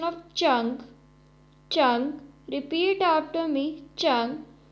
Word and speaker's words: zheng: The next Pinyin is ZHENG, has a pronunciation of chang, chang.